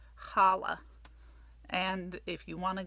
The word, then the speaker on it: challah: So that's why sometimes you'll see Hanukkah written with just an H at the beginning, and sometimes you'll see it written with a CH to represent that guttural H sound.